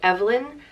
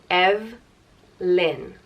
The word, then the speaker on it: Evelyn: the next name is Evelyn and it means shining brilliant or radiant on it's pronounced EV Lynne Evelyn or you can put